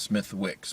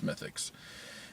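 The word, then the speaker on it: Smithwick's: on tap called smithix it has a w and it's Smith Wix but you pronounce its mythics and it was nice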